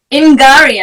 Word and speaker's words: Ngari: Welcome, Ngari. Hello. Is that the right pronunciation, by the way? Ngari. Did you say Ngari? Ngari, I said.